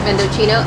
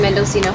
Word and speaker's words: Mendocino: decided for mendocino farms which we just figured i was pronouncing it wrong the whole time vendocino it's actually mendocino farms these sandwiches are they're